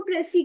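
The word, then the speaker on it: précis: ठीक है, हाँ, ये एस साइलेंट होता है, इसको हम प्रेसी कहते हैं।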